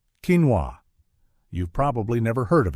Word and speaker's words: quinoa: Quinoa, that's quinoa for those of us who've been saying it wrong at the grocery store.